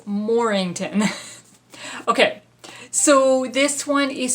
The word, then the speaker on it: Mornington: Mornington cross Mornington cross I always get this name wrong we have a street in town that's called Mornington and so every time I see this that's what comes out of my mind but it's morington okay so this one